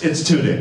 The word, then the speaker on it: Tudyk: But my question is, I know Alan Turdick had a couple of plots that he wanted to work in that Joss never got around to.